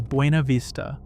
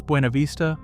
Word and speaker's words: Buena Vista: Fifth is Buena Vista, and the pronunciation here surprises almost everyone who's never lived in Virginia. Locals pronounce Buena Vista with a flattened English sound, not the Spanish-style pronunciation.